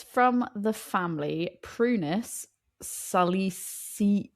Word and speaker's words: Prunus: It said prunus rhymes with munus and salicina. Sa as in salad, e as in as in sit, c nah. And I just love that prunus rhymes with moonas.